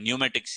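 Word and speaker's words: pneumatics: पर हो जाता है न्यूमेटिक्स इसको कहते हैं ठीक है पी साइलेंट यहां पे है इसके प्रोनाउंस में साइलेंट रहता है अगर आप प्रोनाउंस प काम करते हैं इसका ध्यान रख सकते हो न्यूमेटिक्स हमारे पास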